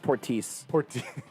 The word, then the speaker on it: Portis: 17 cents i think bobby portis uh it's pronounced portis bobby portis uh beat kentucky and kentucky and